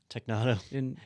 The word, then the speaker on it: Technado: Is it pronounced Technado? Technado.